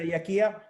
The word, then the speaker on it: Jachia: I will hear Elena Jachia. I hope I pronounce the surname in the right way. It's perfect.